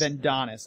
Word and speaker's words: Vendonis: Vendonis. Okay, that'll be easy to remember. Not. Come on, it's Adonis with a Vin. Vendonis.